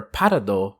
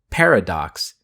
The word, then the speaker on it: Parado: Which brings me around to say that the intent for parado comes from the English word paradox. It's still a name, so I'm sticking with Parad, but parado is the best pronunciation.